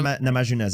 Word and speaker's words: Namajunas: Namajunas, yeah.